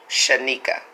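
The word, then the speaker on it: Shaneika: Shanika.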